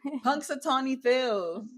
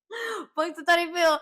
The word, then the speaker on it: Punxsutawney Phil: Punxsutawney Phil. Punxsutawney Phil.